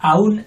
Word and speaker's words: aún: Ya, aún, enseguida. El ya. ¿Cuándo? Ya. ¿Eh? Aún. Aún. Con acento en la U.